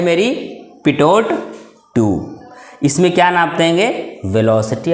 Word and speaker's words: Pitot: पिटोट tube. क्या बोल दिया गया? पिटोट tube. इसको बोल दिया गया पिटोट ट्यूब। क्या स्पेलिंग देख लेते हैं?